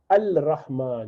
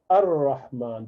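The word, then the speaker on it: الرحمن: So for example, you do not say al-Rahman, you say ar-Rahman. The al is gone.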